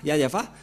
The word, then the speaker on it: Yahvah: Ne prononcez plus le nom du Dieu d'Abraham et de Moshe si vous ne prononcez pas Yahva, car tout le reste sont des faux.